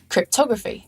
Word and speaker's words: cryptography: are some rules, like if the suffix graphy comes at the end of a noun, the syllable before it is stressed. Photography, not photography. Cryptography, not cryptography. And calligraphy, not calligraphy. So there are some stress